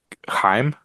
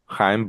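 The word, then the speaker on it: Chaim: was uh I think I think the name is this himim himim Bloom maybe I believe you're right it's it's spelled ch um we're running out of time here on Zoom but we good it's spelled CH ha I am but H Bloom told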